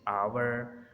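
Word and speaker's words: hour: एच इज़ not pronounced at the beginning of many words. शुरू में बहुत सारे जो अल्फाज हैं जिनके शुरू में एच आता है उनमें एच प्रोनाउंस नहीं होता। जैसे आवर, ऑनेस्ट, ऑनर, एयर, एब,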